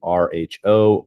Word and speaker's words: rho: greek letter for r it's phonetically it would be rho rho this is a property